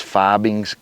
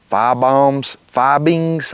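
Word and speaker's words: Fiebing's: And I'm going to be using this Fibings, I guess is how you say it, F-I-E-B-I-N-G-S, Fibings Golden Mink Oil.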